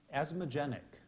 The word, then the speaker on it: asthmogenic: in corn correct another good one for Lissa asthmogenic asthmogenic definition causing attacks characterized by shortness of